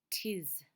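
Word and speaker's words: 'tis: Okay, so he's missing the letter I, and instead of saying it is, which have two syllables, he says tis to make one syllable.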